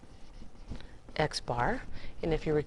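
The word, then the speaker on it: x̄: it has a symbol it's xar and that's exactly how we say that xar and if you Rec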